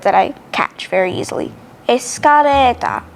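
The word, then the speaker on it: エスカレーター: easy to catch actually the basic rule is that l is often pronounced as r for example as i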